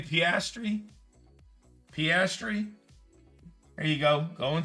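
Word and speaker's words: Piastri: How do you pronounce that last name? Pastri.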